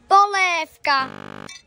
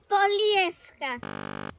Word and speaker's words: polievka: Polévka. Polievka. Správne je polievka. Polievka. Dvojhlásku je nevyslovujeme ako e. A v na konci slabiky nikdy nevyslovujeme ako F.